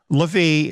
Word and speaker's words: Levi: Dan is removed and Levi is the one that's taking its place or levie if you prefer that pronunciation but it's interesting here